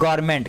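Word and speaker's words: government: यहाँ पे देखिए N है और ये MENTमेंट है, तो इसको गवर्नमेंट पढ़ना चाहिए, लेकिन एन वर्ड यहाँ साइलेंट होता है। ए को, एन को हम नहीं पढ़ते हैं और सीधा इसको क्या पढ़ देते हैं?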